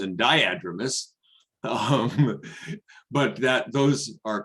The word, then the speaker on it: diadromous: thing i will correct rebecca on is the pronunciation it's anadromous and diadromous um but that those are common mistakes and